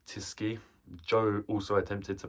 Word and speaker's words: Tyskie: I'm pretty sure I've pronounced that right, Tyskie.